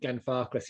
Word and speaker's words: Glenfarclas: i mean you're absolutely spot on with your pronunciation of gan farques you know that's that's it's one of the